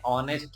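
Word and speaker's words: honest: गया ई फिर एन ऑनेस्ट मैन फिर से यहां पर एच क्या है साइलेंट है तो ओ की ध्वनि ऑनेस्ट है ना याद रखना यहां प पहली ध्वनि जो है वो ओ की है एच जो है वो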